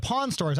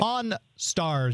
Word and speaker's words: Pawn Stars: But I like, because you think of Vegas, I think of Pawn Stores. I don't necessarily think of because there are shows like Pawn Store. I'm trying to say it correctly. Right. Pawn Stars.